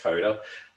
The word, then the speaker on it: Koda: Koda uh I know the name is is a bit of a mouthful but um uh it's pronounced Koda um it it allows